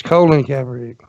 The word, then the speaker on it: Colin Kaepernick: You're saying his name wrong. It's Colin Kaepernick.